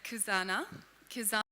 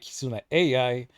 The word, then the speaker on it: Kizuna AI: you to my friend kusana K pronounced wrong is another AI powered digital and completely wrong the the AI part kizuna I kizuna AI That's a gimmick that's